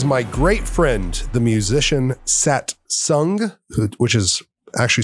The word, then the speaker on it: Satsang: miss this is my great friend the musician sat sung which is actually spelled satsang but pronounced satsang and it's drew mcmanus he over